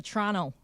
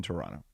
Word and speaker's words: Toronto: George gets to go to Toronto. All right. Yeah, I'm going to. I've got Boston this weekend, then I've got Detroit, and then Toronto.